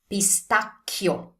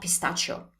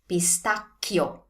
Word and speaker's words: pistacchio: We have an H here, so we have a CH here. Therefore, that C sound is hard. Pistacchio, not pistachio. Pistacchio. So to remember this correctly, think of the sound in chi. pistacchio, pistacchio.